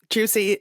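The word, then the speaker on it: Giusy: many sequels so yeah juicy juicy all the way and it's juicy g i u s y pronounced juic it's just the it's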